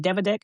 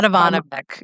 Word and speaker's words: Dedivanovic: fell for the Mario, is it Devodik? How do you pronounce his name? By Dedivanovic.